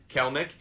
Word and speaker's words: Kelenic: Looks like it would be pronounced Kelenic, but okay. Kelenic.